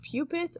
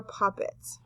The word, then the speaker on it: puppet: puppet good so again in words like pupil unit and music that U is at the end of a syllable so it has a long vowel sound and an until in puppets the U is in the middle of a syllable ending with a consonant so it is a short vowel sound okay one of our